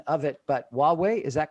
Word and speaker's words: Huawei: and you corrected my pronunciation of it but huawei is that correct pronunciation of it that is investing in potentially